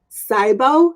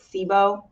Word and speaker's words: SIBO: constipation bloating digestive issues cybo is that how you say it you know this is such a good question i pronounce it sibo but i don't i'm